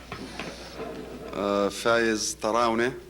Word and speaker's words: Fayez Tarawneh: Thank you very much indeed, and you are very close to the pronunciation of my name. Fayez Tarawneh.